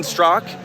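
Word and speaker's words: Straka: Yeah, Strzok, spelled S-T-R-A-K-A. Yes. It's pronounced Strzok.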